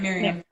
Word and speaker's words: Miriam: Miriam, how do I pronounce your name? You're saying it right, Miriam.